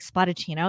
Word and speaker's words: Spadaccino: spotted chino yes correct so spa and then um d-a and then chino like cappuccino everyone says yep i don't know how people not know how to say your name but how do you say her name i'm like spotted chino exactly like how it's spelt yeah no it's very